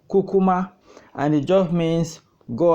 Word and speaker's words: kukuma: be discussing today is the word Cuma is pronounced cucuma and it just means go ahead and cucuma